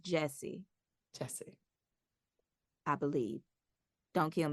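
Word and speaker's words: Gyasi: I believe that her last name is pronounced Jessie.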